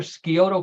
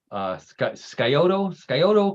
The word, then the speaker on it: Scioto: John and Karen, do you know where Scioto County is? I think it's Scioto, I think is how you pronounce Scioto.